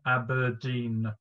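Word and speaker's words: abrdn: And it's been Aberdeen. That's the way that it's now said, apparently, phonetically, because they want to connect with a more millennial generation.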